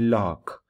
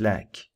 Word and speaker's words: lakh: the word lack although if you were to pronounce this word that would be lock but then among people the word is pronounced as lack um then for example